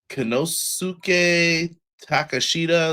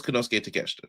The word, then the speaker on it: Konosuke Takeshita: They were like uh like they called Konosuke Konosuke Takeshita. That's how they said his name. I know it's Konosuke Takeshita, trust me.